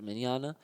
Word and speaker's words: Mignogna: still reprised by a vic Mignogna manana that's how that's how you pronounce manana alright and and so